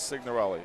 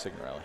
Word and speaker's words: Signorelli: Marco, everybody says Signorelli. It's got to be Signorelli, right? No, it's Signorelli. But, yeah, in the Italian, that is the correct pronunciation, I would think.